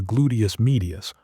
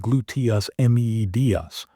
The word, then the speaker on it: gluteus medius: When you stand on one leg, deep stabilizing muscles in your hips, especially the gluteus medius, pronounced gluteus medius, must fire continuously to keep your pelvis level.